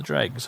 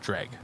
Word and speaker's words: Dreugh: meant to pronounce this i know that in oblivion the npcs will pronounce it dreg i remember that because